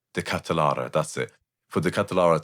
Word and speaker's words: De Ketelaere: cross them for De Ketelaere How do you pronounce his name? De Ketelaere, that's it.